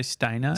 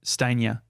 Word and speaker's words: Stanier: I say Stainer. Steiner. It's Stania. Stania. It's spelled Stanier.